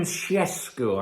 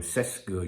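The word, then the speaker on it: Šeško: out um but yeah Benjamin shesco I think that's how you pronounce his his name in his language in his native language some of you just call him cesco you know what I'm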